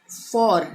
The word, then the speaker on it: for: इसको कैसे पढ़ेंगे ब्रिटिश इंग्लिश के हिसाब से? फॉ, यानी कि अ का उच्चारण आ रहा है, अ। ठीक है, अ से अ हो गया, फॉ। एफ ओ आर, आर का उच्चारण नहीं होगा, फॉ होगा। इसको पढ़ेंगे फॉ, यानी ब्रिटिश लोग इसी तरह से इसको प्रोनाउंस करते हैं, फॉ।